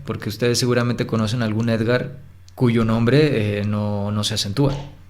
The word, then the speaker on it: Édgar: ejemplo vamos a decir el nombre édgar édgar es un nombre muy común se separa en dos sílabas sencillamente édgar cuál es la sílaba tónica ser agar edgard édgar